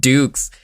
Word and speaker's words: Dux: His name is pronounced Dukes.